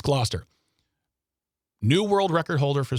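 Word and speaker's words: Gloucester: But hey, Dave Purchase of England, Glossier. Gloster. I I usually know how to say these names. Glouester. Glouester. It's Glouester.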